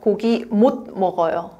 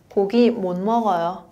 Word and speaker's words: 고기 못 먹어요: But you know, here, there is a T at the bottom and there is M sound. Then it is not 고기 못 먹어요. No. You can pronounce like N sound instead of T. 고기 못 먹어요. More soft. Right? More soft.